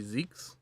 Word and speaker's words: Van Zieks: I know that if it was the proper German pronunciation, it would be Zeke, but uh I I believe it's supposed to um I believe it's supposed to there. They want it to rhyme with uh Yikes. No game audio.